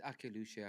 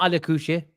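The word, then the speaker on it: Akliouche: I thought it's Akilushe, not Ali Kushe. It's Akilushe. Aki's right. So is it Akiluche, yeah? Yeah, my cousin here. Zach, it's not Ali Kuche.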